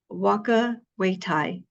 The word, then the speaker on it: whakawhetai: Okay, so it's um Waka Waitai. Waka Waitai. Mm-hmm. What a I can beautiful spell it for word.